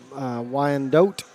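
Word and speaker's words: Wyandotte: even pronounce her right why and dote I guess is how you'd say it I'm from Oklahoma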